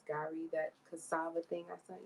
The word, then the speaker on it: gari: Normally I say Gary, but that's not how you say it. It's Gari, that cassava thing I sent you.